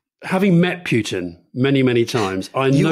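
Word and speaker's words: Poutine: is the fact that in french he's called putin p-o-u-t-i-n-e because of course as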